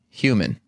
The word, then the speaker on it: human: How do you say human? Human. How should I say it? You should say it like Kirk Newman. Yeah, some people human. Like to say human. Human. Oh, no. Human or something like that. Yeah, they fuck it up a little bit. There's an H there that won't be ignored.